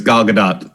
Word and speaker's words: Gal Gadot: so many different ways i've heard her pronounce her name it's gal gadot gadot is that how